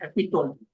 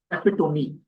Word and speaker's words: epitome: And now coming to not so good usage of words, someone mentioned epitome, where the correct pronunciation would be epitome.